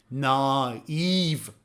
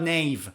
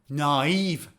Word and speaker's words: naive: adjective is naive naive pay attention to the pronunciation naive naive it's not naive or knife naive what does it mean a naive person is